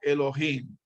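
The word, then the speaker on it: אלוהים: esta que está aquí arriba que pero se pronuncia como elohim es la lo que quiere decir entonces podemos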